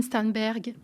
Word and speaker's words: Sternberg: bonjour stanberg bonjour Est-ce que je prononce bien votre nom de famille pour commencer